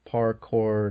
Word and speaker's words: parkour: how you say it so the r is not silent or anything weird like that no parkour I mean the thing